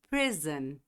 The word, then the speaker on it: prison: Prison. Novamente, como freedom, esse O vem com som de A com tio.